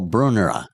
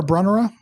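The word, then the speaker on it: Brunnera: Brunera. Yes. Am I pronouncing it the same way you do? Bruner or Brunner. Yeah. Yeah. Either either or.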